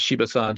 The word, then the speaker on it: Shiba-san: That's the easiest way to say his name. It's what we call him, is Shiba-san. Shibawaki is his real name.